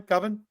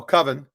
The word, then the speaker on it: coven: yeah did I say it right that time coven yes you said it right I'm so proud of you for learning English I used to pronounce it koven and he would make fun of me so coven um that was her favorite part of the